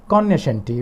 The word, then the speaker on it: cognoscenti: इसको आप कॉग्निशेंटी भी कह सकते हैं या कॉग्निशेंटी, वेयर जी इज साइलेंट।